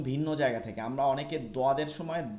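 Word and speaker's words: ضاد: অনেকে জদ বলি বা জয়দ বলি, এই উচ্চারণগুলো করা যাবে না, এটা উর্দু উচ্চারণ, এটা আরবিতে করা যাবে না। আরবিকে দদকে দদ বলতে হবে, দদ দদ দদ দদ।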